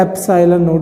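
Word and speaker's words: epsilon naught: इसको हम बोलते हैं एप्सिलॉन नॉट। ये इसका प्रोनाउंसिएशन है, इसको ऐसे बोला जाता है, जैसे एन को बोला जाता है एन, वैसे इसको बोला जाता है एप्सिलॉन नॉट।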